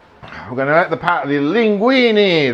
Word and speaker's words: linguine: We're going to let the linguine, that's the name of it, linguine. Although in Italian it's linguine, but never mind.